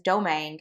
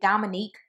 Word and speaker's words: Domangue: would get my last my maiden name is domangue and I would get Dominique all the time and I'm like where